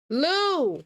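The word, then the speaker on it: Lieu: that black people are stupid and will not Lou I knew it I knew I said it right and one of them Lou Ted Lou okay shoot the full clip in its entirety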